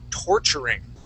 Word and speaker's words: torturing: Okay, the other word was torturing. Okay, so the accent's at the very beginning.